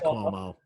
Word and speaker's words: Cuomo: Andrew Cuomo, Governor Andrew Cuomo in New York. Despite Cuomo, is it Cuomo? Yeah, okay, it's Cuomo.